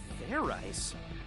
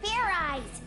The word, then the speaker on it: fairize: Fair rice? Is that sort of like fried rice? Idiot! It's pronounced fairize. There's no ice in it.